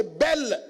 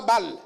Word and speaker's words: Bel: Cher bien-aimé, pour débarrasser l'église de Babylone, il faut que Bel s'écroule, que Nebo tombe. Bel, ce n'est pas Bal. Mais ils sont proches dans l'intonation et dans la prononciation.